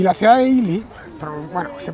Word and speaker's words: Ely: inculta imposible de cultivar y la ciudad de ili bueno se pronuncia ili pero su nombre es escrito es segú Leo